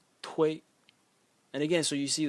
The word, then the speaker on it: 推: The next character is pronounced tui, tui.